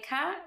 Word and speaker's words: cas: cas. Don't pronounce the S at the hand.